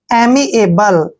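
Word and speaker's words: amiable: बी एल ई देखिए ए का उच्चारण ए करते हैं एम को हम मैं पढ़ते हैं आई को बड़ी की मात्रा पढ़ेंगे ए को ए पढ़ना है बी को ब पढ़ते हैं और एल ई का उच्चारण ल करते हैं एमी एबल एमी एबल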